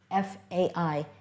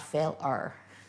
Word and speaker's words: failure: And we have here the A-I combination, failure. But it sounds, just makes a hard A sound. You don't hear the I in that sentence, in that word. F-A-I-L-U-R-E. And the E at the end, that's a silent E, that makes the U sound a little bit different. Failure, not fail-er. So failure.